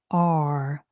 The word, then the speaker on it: are: The next word is are. A has the ah sound, R has the rus sound, and the E is silent. Are.